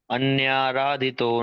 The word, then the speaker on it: अन्याराधितो: अन्या अन्याराधितो नूनं अनया।